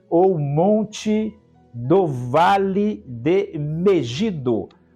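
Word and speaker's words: Megiddo: Montanha ou monte do vale de Megido, ou como pronunciam outros, Megido.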